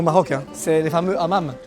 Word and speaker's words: hammam: Un truc à tester absolument à Marrakech, et même au Maroc, hein, c'est les fameux hammams. Non, hammam. Parce qu'ici le H est bien prononcé, les hammams.